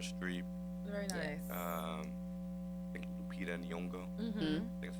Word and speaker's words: Lupita Nyong'o: I think Lupita Nyong'o.